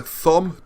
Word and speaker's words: Thom: If you look at, I'd highly, highly recommend looking up the works of Alexander Thom, T-H-O-M. I know it said Tom, but if you say Thom, you remember how to spell it.